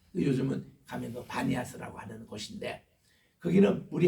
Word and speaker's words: 바니아스: 신전이 있던 곳 시작에서 파리아스 이랬는데 이것이 바람이 피가 비로 이 부드럽게 돼서 바니아스 아고 요즘은 발음합니다 요즘은 가면도 바니아스 아고 하는 곳인데 거기는